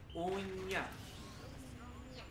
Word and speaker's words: uña: Because the N goes like ña. Uña.